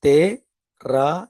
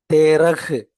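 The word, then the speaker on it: तेरह: அடுத்தது தே ரா இஹ். தேரா. தேரகு அப்படின்னு படிக்கக்கூடாது. ஏற்கனவே நான் உங்களுக்கு சொல்லியிருக்கேன். கடைசியில இந்த ஹா அப்படிங்கிற எழுத்து ஒரு வார்த்தையில் வந்தால் அந்த எழுத்த, இந்த உச்சரிப்பை டவுன் பண்ணிக்கணும். அதை அப்படியே லைட்டா தான் படிக்கணும்.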